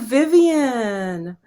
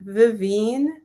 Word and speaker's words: Vivine: sorry for you because my name is vivine and people say oh vivian hi and i'm like hi it's actually vivine vivine and they're like oh